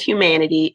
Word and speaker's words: Huemanity: The name of my studio is Humanity, and it's spelled H-U-E because I focused on the hues, the colors.